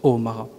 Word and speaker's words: Omara: temps plein aux éditions omara c'est comme ça que ça se prononce hein l'accent est sur le omara vous éditez une sélection